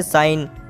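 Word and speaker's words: sign: जी आ रहा है तो हम जी को साइलेंट रखेंगे इसी तरह से साइन साइन में भी इनसे पहले CR है तो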